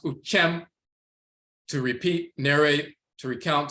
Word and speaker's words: Uhem: In ancient Kamit, Uhem, which is pronounced Uchem, to repeat, narrate, to recount, tell a story.